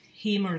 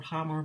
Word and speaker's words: Hamer: a guitar buff, is they played Hamer guitars, or Hammer, but I think it's pronounced Hamer.